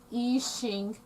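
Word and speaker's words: Yixing: to spell that um eachine spelled y-i-x-i-n-g of course that's uh americanized um um spelling that's not how it's written in chinese ishing ishing ishing teapots are made from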